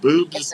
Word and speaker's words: Bubes: It's BUBES, Boob's Brewery. Okay, I didn't want to mispronounce it.